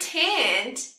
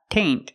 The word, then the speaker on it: tent: And remember, it's not taint, it's tent. Use the short S sound.